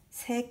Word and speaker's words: 세: So 3 means 셋, and in the sentences we just not pronounce 시옷. 세 켤레 있습니다.